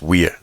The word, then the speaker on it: Wear: t t and Weir right it's Weir not it's not not like wear and tear but it's ttin and